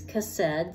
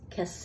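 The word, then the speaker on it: chesed: adherence loyal and the the Hebrew word is cassed c h s e d pronounce cassed and it refers to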